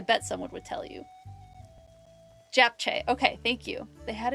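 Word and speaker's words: japchae: Japche.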